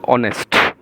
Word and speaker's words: honest: it is mentioned here an honest man a chit silent the pronunciation honest again before a singular